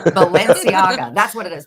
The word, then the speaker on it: Balenciaga: It wouldn't be if I pronounced it right. Balenciaga. That's what it is. Balenciaga.